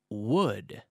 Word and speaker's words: wood: Pero la pronunciación es igual que la palabra would de madera, would.